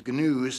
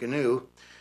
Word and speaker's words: gnu: to Nature myself I'm I'm raising all these ganoes that's how he pronounced it gnu um he said uh